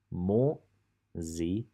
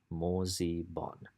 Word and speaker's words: moziban: Moziban. 3 syllables, quite easy. Moziban. Moziban.